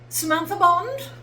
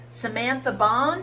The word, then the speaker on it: Samantha Bond: Samantha Bond. Well, yes. Well, yes, that's me. Actually, they don't say it like that, do they? Cuz they're American. Samantha Barn, which also, to be fair, sounds pretty cool.